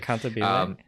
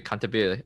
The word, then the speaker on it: Cantabile: I can never pronounce it right. Cantabile. Thank you, Cantabile.